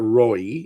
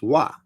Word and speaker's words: roi: So like a king, if you say king in French, that's r oi. um which is not roy, it's wa lea. That is how you say the king.